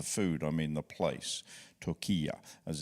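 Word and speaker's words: Türkiye: mean the the food I mean the place took as it's now pronounced said and I'll get ads from Turkish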